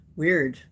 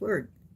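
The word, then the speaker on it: wyrd: Weird. Weird is the word. It's also sometimes pronounced word.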